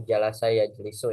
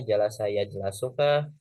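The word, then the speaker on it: جَلَسَ يَجْلِسُ: Ini dibacanya jalasa ya jelasukah, jalisa ya jelusukah? Ya, pasti teman-teman akan bingung. Makanya di situ nanti kita menggunakan untuk perasaan kita. Nah, kalau misalkan teman-teman sudah sering menemukan kalimat yang seperti itu, nah itu akan lebih mudah. Jalasa ya jelisu. Jadi mengikuti wazan fa'ala yafilu.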